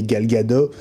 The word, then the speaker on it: Gal Gadot: parallèle entre Huawei et Gal Gadot. Ah bon, je crois qu'il faut prononcer le T d'ailleurs. Elle prononce le T en israélien.